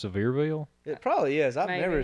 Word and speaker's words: Sevierville: silverville silverville where cedarville one more time saverville is that how you say it i think it's sevierville it probably is i've